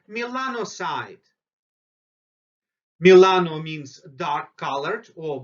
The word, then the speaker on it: melanocyte: same amount of melanocytes always try to pronounce new words so say Milano side Milano means dark colored